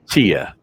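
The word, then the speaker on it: Chea: And Mark Kibble, Joey Kibble, Christian Dentley, Elvin, is it Che? I never know how to say his last name. Chia. Chia, just like it's spelled.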